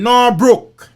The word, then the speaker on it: Norbrook: Asher, who resides in Norbrook, that rhyme with crook.